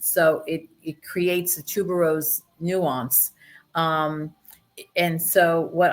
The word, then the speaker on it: Tuberose: It's not rose, but it's called Tuba Rose.